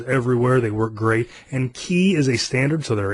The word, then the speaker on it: Qi: a wireless charging protocol called key which is spelled qi I always thought wireless